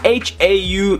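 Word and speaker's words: Hau: But in general, in the Māori language, if it's H-A-U, it would be known as Ha-U.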